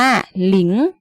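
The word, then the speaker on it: 零: สี แดง ๆ นี้ นะ คะ อ่าน ว่า หลิง หลิง นะ คะ แบบ นี้ ใคร เดี๋ยว ซื้อ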